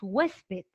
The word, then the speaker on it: huésped: es una grave no ahora tenemos huésped huésped vamos a dividirlo en dos ahí está huésped no en sílabas lo dividimos en sílabas y me doy cuenta que la tilde también está presente y la tilde está en donde en la penúltima cuando la tilde está en la penúltima esta es una grave esta es una grave